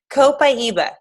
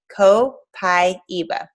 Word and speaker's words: copaiba: and down the hatch copaiba this is how you say it copaiba a lot of people wonder how to say it because it's something that